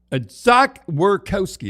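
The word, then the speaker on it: Zach Werenski: So Zach Werkowski, is that how you say it?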